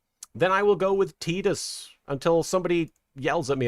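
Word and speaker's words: Tidus: Didia Final Fantasy also pronounces it Tedus. Then I will go with Tedus until somebody yells at me about it.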